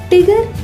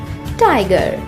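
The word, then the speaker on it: tiger: टिगर इसका गलत उच्चारण है। इसे सही तरीके से बोलने के लिए पहले बोलें टाई, फिर इसमें जोड़ें गर, जोड़कर बोलें टाइगर।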